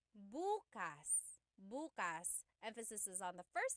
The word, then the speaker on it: bukas: If you say bukas the emphasis is on the second syllable that means open. If you say buas emphasis is on the first syllable that means tomorrow.